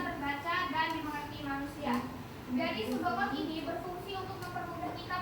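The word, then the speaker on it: pseudocode: Ini bacanya sudokot ya.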